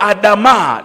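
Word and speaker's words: אדמה: Neno Adam ni neno la kiania lenye linalotamkwa Adamaa lenye maana ya udongo ardhi.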